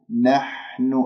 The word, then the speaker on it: نحن: واكسر الهمزة، إنما نحن، نحن، الحاء رقيقة، لا تخرج كمية هواء تهجم على مخرج الحاء تطلع عندك شحطة، نحن، خطأ، نح حيح بح نح، نحن مستهزئون.